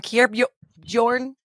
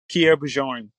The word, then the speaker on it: Kierre Bjorn: I think I went from Kierre Bjorn. Am I saying it right? Yeah. Say it again. Kierre Bjorn.